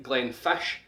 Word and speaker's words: Glenfiddich: So here we have quite a famous distillery from Islay, and once again, like Glenfiddich, the DDICH on the end is pronounced sh. So this is Bruichladdich, the BRUICH, Bruichladdich, Bruichladdich.